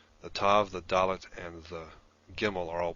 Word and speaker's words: dalet: Dalet is pronounced d, and tav is pronounced t, regardless of whether it has a dagesh or not. Some people will pronounce the dalet without the dagesh as the, as in the th in the, and this is